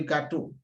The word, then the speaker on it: gâteau: When you look at the different words here, let's start from the first one, le gâteau. Le gâteau, there's accent on the A, but it keeps the same sound A.